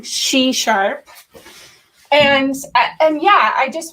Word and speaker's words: SheSharp: so much c sharp i have been pronouncing it c sharp everywhere but i'm trying she sharp and and yeah i